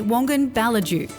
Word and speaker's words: Wongan-Ballidu: Stop rushing, escape the hustle and bustle and get busy living in the Shire of Wongan-Ballidu, or as the locals say, Wongan-Ballidu.